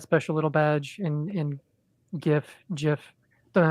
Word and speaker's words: GIF: little badge and in GIF GIF don't know how to pronounce that either well I I would I would say that we don't pronounce it J we pronounce it God so it's a gif and it's graphic go